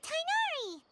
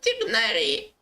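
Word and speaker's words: Tighnari: But why didn't you say anything about it to Tainari? Его зовут Тигнари.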